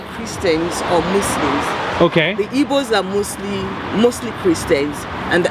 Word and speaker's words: Igbo: Igbo.